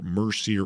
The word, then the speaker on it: Mercier: Enjoy yourself some Mercier Orchards hard cider. Best way to do this is to search for Mercier Orchards Hard Cider.